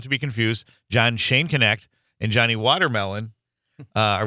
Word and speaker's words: Schoenknecht: But um first our very special guest John Shonneck is a retired middle school. Am I pronouncing your name first John? Um it's Shane Connect.